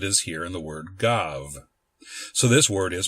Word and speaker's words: gav: in modern Hebrew is pronounced as a b when it appears at the beginning of a syllable but as a v sound when it is at the end of a syllable such as it is here in the word gov.